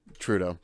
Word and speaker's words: Trudeau: feared uh how do you say his name theradu from canada or uh justin trudeau trudeau there you go he made a statement where